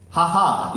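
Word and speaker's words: JAJA: very instagramable dining sports haha is the place for you yes that's how it's being pronounced because it is spelled in spanish as you can see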